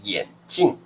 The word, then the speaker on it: 眼镜: passy知道2片好眼睛跟眼睛的发音不一样啊眼 OK 好来老师念给你们听吧来这个叫眼镜 4声眼镜这个叫眼睛 1声的眼睛 first stone 眼睛这个叫眼镜4声的啊4声的眼镜眼睛啊 so totally different 好好的要见哦好好的那这个各位同学因为呢我们英文哦英文是说glasses but in chinese we say 眼镜啊眼镜啊眼镜啊好 okay